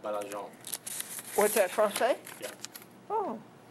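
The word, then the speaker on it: Baillargeon: It's like Bail, B-A-I-L, L. and then large, L-A-R-G-E, and Sure. then on, O-N. Yeah. It's pronounced Belargin.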